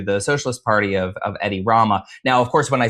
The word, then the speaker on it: Edi Rama: Sure, the So, the current leader is Edi Rama.